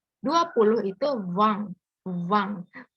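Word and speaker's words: vingt: Di sini Z ini bacanya kayak like a smile ya, kayak senyum gitu. Jadi Z. Z. 20 itu Wang.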